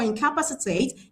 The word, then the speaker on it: incapacitate: How we get our answer for incapacitate is we're following the stress rule that talked about the suffix. So the suffix ate carries stress on the antepenultimate syllable.